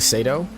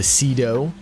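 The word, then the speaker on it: Cedo: high contenders would be the Sado or the the Sido as everybody likes to tell me it's pronounced when it's both that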